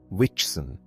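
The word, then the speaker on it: wichsen: For in the language of later childhood, the word for to hit is witchen, pronounced like the English vixen.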